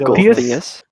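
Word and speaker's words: Gulthias: How do you pronounce that? The name of the tree? Gulthius? Golthius.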